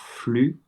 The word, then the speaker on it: flux: euh par exemple pour flux euh je crois que dans la vidéo tu dis flux. H du coup c'est flu flu simplement on ne dit pas le le x en règle générale on